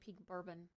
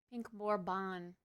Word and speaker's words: Pink Bourbon: Uh we're saying it wrong, chat. I've literally just been saying peak bourbon. Pink bourbon. Take notes.